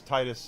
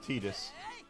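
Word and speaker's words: Tidus: I wonder how many people pronounce it the wrong way cuz I thought it was Titus at first and it's Tetus and they never say it.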